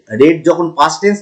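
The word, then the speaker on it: read: মানে পড়া আবার রেড রেড যখন পাস্ট টেন্স তখন কিন্তু আমাদের রেড বলতে হবে।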